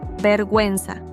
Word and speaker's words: vergüenza: If we want to pronounce the U when it appears between G and E or G and I, we add the dieresis above the U. For example, vergüenza, shame, pingüino, penguin.